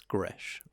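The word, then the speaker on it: Gretsch: it's not a streamliner is that how you pronounce it i've seen the words i just thought it meant greece i think it's pronounced it's gresh okay aggressive guitar english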